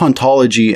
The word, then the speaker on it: hauntologie: this is not all in the original French the age in haunt is silent and therefore both ontology and ontology are in fact pronounced the same the word itself functions